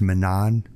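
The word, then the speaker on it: Menand: his pragmatism and I drew heavily from leis Manan I think that's how you pronounce his last name me me n n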